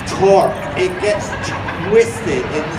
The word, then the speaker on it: torque: engineers talk about talk when i say talk it sounds like i'm saying t-l-t-a-l-k what i'm saying tor i have to say it like a pirate torque it gets twisted in